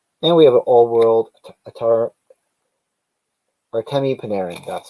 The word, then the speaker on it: Artemi Panarin: And we have an all-world Artemi Panarin.